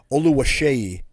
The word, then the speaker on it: Oluwaseyi: Oluwaseyi is how you pronounce his last name.